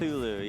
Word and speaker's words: Cthulhu: Is that how you pronounce it? Cthulhu, yeah.